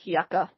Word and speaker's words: Yucca: no it's waka waka it's spelled like like Yuka but it sounds like yucka I Peninsula yep well